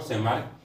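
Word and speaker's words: Tschermak: तीसरा जो वैज्ञानिक था वो था सेमार्क। टी साइलेंट है।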